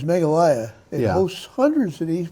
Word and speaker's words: Meghalaya: now this state which i will pronounce as meghalaya it hosts hundreds of